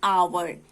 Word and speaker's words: hour: for example see here, an आवर है ना, आवर जो है इसका स्पेलिंग है HOUR, और आवर का जो फर्स्ट लेटर है वो है एच है कॉन्सोनेंट लेटर, और इस कॉन्सोनेंट लेटर का जो प्रोनाउंसिएशन है ह जैसे वो इधर म्यूट है ना, आवर इसका प्रोनाउंसिएशन